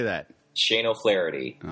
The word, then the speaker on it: O'Flaherty: Shane O'Flaherty.